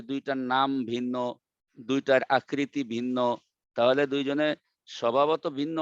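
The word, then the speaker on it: ء: হামজার উচ্চারণ কিন্তু নামের সঙ্গে উচ্চারণের সঙ্গে মিল নাই। হামজার উচ্চারণটা হচ্ছে আ।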